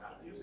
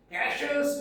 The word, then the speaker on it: Cassius: Pronunciation is very funny, right? Not Cassius, it is Cassius Longinus.